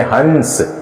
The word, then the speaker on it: हंस: इस पर अनुस्वार है, इसको हम पढ़ेंगे हंस।